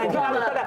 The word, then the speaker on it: plumber: Anyway, it's a plumber. Silence. Why are you putting it if you don't want to pronounce it?